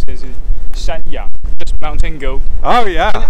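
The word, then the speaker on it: 山羊: I would say that is good because a goat in Taiwan is in Chinese say we pronounce it as shanyang, just mountain goat.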